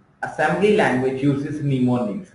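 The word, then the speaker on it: mnemonics: say Assembly Language uses pneumonics here m is silent we can say or we pronounce as pneumonics to represent lowlevel machine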